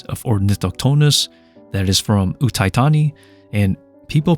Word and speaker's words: Uthai Thani: pronounces the name right that is utani not uani and this is an